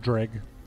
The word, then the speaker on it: Dreg: Take the G out. Put the D. Gred. Greg. Gred. Greg. DR. D-R-E-G.